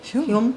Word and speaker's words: Hulme: So the name of the song is All Roads Lead to HULME. Is that how you say it? HULME? HULME. See? We're from Hume.